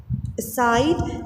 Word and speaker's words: aside: Similarly, aside. So this is preposition, and again the stress has been placed on the second one.